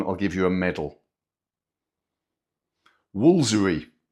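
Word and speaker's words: Woolfardisworthy: Woolsery. 16 letters and we only pronounce seven of them.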